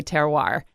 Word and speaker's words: terroir: you should know called terar which of course is a French word and probably really pronounced ter but us dumb Americans say terroir and this refers to